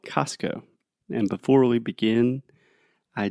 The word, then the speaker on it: Costco: c-o-s-t-c-o right yeah so technically it would be like cost like the price and then Co like company so I imagine the more correct way to say it would be Costco so hard Costco but